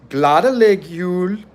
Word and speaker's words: Glædelig jul: How do you say Merry Christmas in Danish is Glædelig jul, Glædelig jul, Glædelig jul to you, Glædelig jul to you, Glædelig jul to see Astrup Olsen. Like, oh my God. Glædelig jul to you.